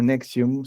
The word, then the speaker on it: NXIVM: hace llamar nexium y la palabra nexium se escribe n x y vm era una empresa de